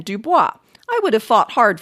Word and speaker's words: Dubois: finally stuck with it they registered their displeasure by stubbornly pronouncing it dubois rather than dubois i would have fought